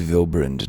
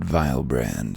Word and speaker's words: Vilbrand: the sea unto vilbrand it is vilbrind not vilebrand that's isn't